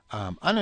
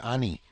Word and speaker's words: ano: Ano yan? Ano yan? In fact, ano is often pronounced almost like any. Okay, ani, ani, ano yan?